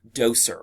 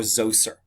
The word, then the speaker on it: Djoser: created under the king doser or zoser as it is pronounced um doser or zozer um founded the third